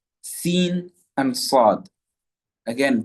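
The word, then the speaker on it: ص: However, the letter sad, as-sad, as, us, is, the tongue rises.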